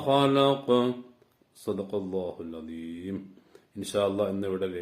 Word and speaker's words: خلق: ഖലഖ് ഒന്നുകൂടി പറയാം. ഖലഖ് ഖു. നമ്മൾ കാറുമ്പോഴൊക്കെ ഒരു ശബ്ദം വരില്ലേ, ഖ എന്നൊക്കെ, ആ ഉച്ചാരണ വരേണ്ടത് കേട്ടോ.